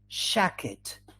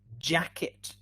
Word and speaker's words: jacket: with a different sound jam not sham jacket not shack it general not general age not ace fridge not fresh okay good there's another